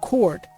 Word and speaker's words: chord: e is silent and chord the h is silent.